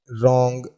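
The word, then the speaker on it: wrong: कुछ और वर्ड्स की बात करें तो जैसे राइट, रॉन्ग, रिस्ट, रैप, इस प्रकार के ये जो वर्ड्स हैं इसमें W साइलेंट है।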